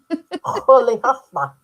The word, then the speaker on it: Rolihlahla: Rolihlahla.